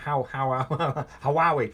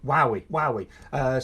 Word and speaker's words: Huawei: Huawei. Those mobile phones from China. It's got H and a U in it, but I don't think you say it. Huawei.